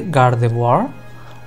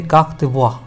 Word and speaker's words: Gardevoir: on a dancer, and the name has the pronunciation that you will expect from the French language. So, for example, you can say Gardevoir, or you could say Gardevoir.